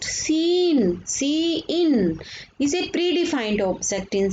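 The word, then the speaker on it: cin: Identifier seen pronounced seen is a predefined object in C++ that corresponds to the standard input stream.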